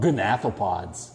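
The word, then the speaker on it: gnathopods: bet you don't know they're called gonathopods except with a silent g pods good job another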